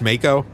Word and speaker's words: Mako: I believe it's pronounced Mako, sir.